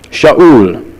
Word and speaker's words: Saul: And so we're introduced to Saul, Shaul, as it may be better pronounced.